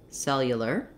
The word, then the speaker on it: cellular: i would suggest one break it down syllable by syllable saying it slowly and speeding it back up that would sound like cell yeah ler cellular cellular another would be to build